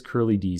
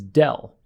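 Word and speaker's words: ∂: symbol and yeah obviously we can pronounce it curly d or just d my preferred way of pronouncing this character is del and that distinguishes it from the d that we use for full derivatives so if this was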